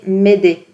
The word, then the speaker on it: Mayday: de détresse qui est le Mayday prononcé m'aider un message de détresse